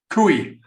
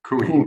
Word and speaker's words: Coie: and is at the law firm of Perkins Coie. Is that, I'm pronouncing that correctly? Close, yeah. Pardon? Cooey. Took me a while to figure it out myself. So Cooey.